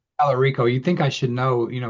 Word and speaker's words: Talarico: I always say his name wrong. Pelorico. Talarico.